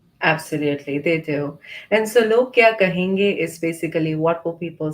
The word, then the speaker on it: Log Kya Kahenge: And the term is log kai kahenge. Am I saying it correctly? No, so it's log. It's log. You did try. You tried. That's right. So log kya kahenge, and Thank you.